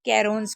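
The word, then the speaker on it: crayons: और यह pencils and कैरोन देखिए केों्स यहां पर वाई को या पढ़ा जा रहा है इसलिए कैरोन्स पढ़ा जा रहा है।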